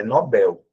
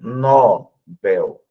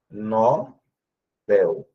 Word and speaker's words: Nobel: O prêmio é Nobel. Então, mas eu vou falar sobre isso. A pronúncia correta é essa, tá? Nobel. A prosódia que é a tonicidade está no B e não o nó.